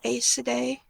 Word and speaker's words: Aes Sedai: The definitive pronunciation of Aes Sedai. Obviously the correct pronunciation.